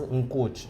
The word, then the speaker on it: Nkuchi: Porque o Cuchi, enquanto nome da minha falecida avó, pronunciava-se Nkuchi, escrevia-se Nkuchi.